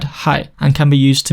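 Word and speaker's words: 係: For example, this character meaning to connect in standard Chinese, in Mandarin it's pronounced shi, but in Cantonese it's read hai, and can be used to mean to be, the same as shi in standard Chinese.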